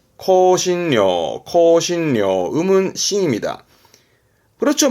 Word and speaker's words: 香辛料: 발음은 코신료, 코신료.